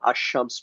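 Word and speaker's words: الشمس: আমরা এটাকে কি করি আল এর উচ্চারণটা লামের উচ্চারণটা রাখি এটা আশশামস বলি।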